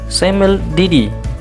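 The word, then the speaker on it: semel de die: Yang pertama di sini, ya, ada singkatan SDD, ya, cara pengucapannya adalah semel didi, artinya adalah 1 kali sehari.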